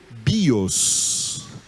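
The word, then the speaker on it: βίος: Então, por que o acento, os acentos aqui estão em cima do ômicron, mas quando eu pronunciei, é o bi que é a sílaba tônica, é o iota que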